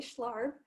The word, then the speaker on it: Schlarb: Today, I have the pleasure of speaking with Joy Schlarb. Did I pronounce that right, Joy?